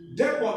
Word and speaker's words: depot: Depot ends with T, but you don't say depot.